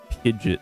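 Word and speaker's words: Pidgeot: Pidget the the official pronunciation which is stupid.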